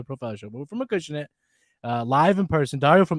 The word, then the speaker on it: Acushnet: the H rather, so I was like a ChooseNet in my head sometimes. So that's how do you say it again? Acushnet. Acushnet.